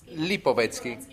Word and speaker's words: Lipovetsky: So I think fear is a big element, and kind of like the author, I want to pronounce his name, Lipovetsky.